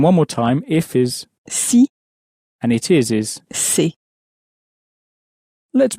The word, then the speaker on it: si: The if sounds a bit more like the sea that you would swim in, a little bit like that, but shorter. And the it is sounds a bit more like the English word say, but it's not pronounced as clearly as that. But that's the difference. One veers more towards see and the other towards say.